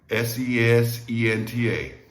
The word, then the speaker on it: sesenta: Listen to that one carefully. 60. All right, SESENTA. 3 syllables again.